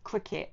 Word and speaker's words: Cricut: So it's called a cricket machine and it is pronounced cricket as in ball game.